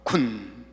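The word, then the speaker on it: כּוּן: 한글 발음이 쿤.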